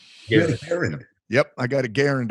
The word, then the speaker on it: Garand: I always say, if you own one, you could pronounce it correctly. Yep. Garand.